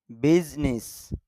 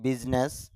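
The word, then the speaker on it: business: বাস Bush ঝুপ ঝাড় বিজনেস যদিও আমরা বাংলাতে ব্যবহার করি বিজনেস তবে শুদ্ধ উচ্চারণটা হল বিজনেস এখানে বর মধ্যে স্ট্রেস হবে অর্থাৎ ডাক্কা হবে সাউন্ডটা এটা হলো ইংরেজি ওয়ার্ডটা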